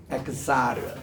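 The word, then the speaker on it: אֶחְסָר: L 로 아니다 할 때 로 그리고 엑사르 이게 이제 엑사르란 말이 요거거든요. 엑사르입니다. 요게 이제 이게 H의 강한 발음이니까 그냥 엑사르가 아니라 이게 카가 이게 엑사르 요게 액센트가 있어요.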